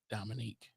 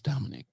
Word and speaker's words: Dominic: It's Dominic, bro. We pronounce every syllable. There is no Dominique. This is Dominic. Dominic. Nick. Nick. Not Nick. Nick. Nick. The C makes a K sound on this instance.